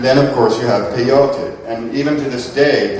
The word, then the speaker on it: peyote: And this again was called peyote, and some people say peyote, but it really is accented peyote. Sargon spelled it P-E-I-O-T-L, which would be pronounced peyote.